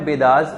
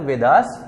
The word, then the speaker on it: Vedas: वेद को ही इंग्लिश में अगर प्रोनाउंस किया जाता है तो वेदास बोला जाता है।